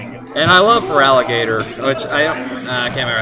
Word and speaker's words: Feraligatr: You don't have to try and get And I love Feraligatr, which I can't remember how you say his name, but I've always called him. Yeah, Feraligatr. I always call him Farragator.